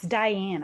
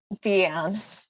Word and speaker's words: Deanne: It's Diane, I believe, right? Deanne. Deanne. It's okay. The way it's spelled, I know, isn't how it's said.